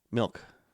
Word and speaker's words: milk: Milk. I think I say it It's the like right a way. Midwestern joke. Milk is spelled M-I-L-K, but if you're from the Midwest, you say milk, M-E-L-K.